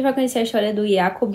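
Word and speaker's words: Yaqub: conhecer a história do yacob e do woman eu descobri que se pronunciava assim por conta da do trailer da Globo que na minissérie é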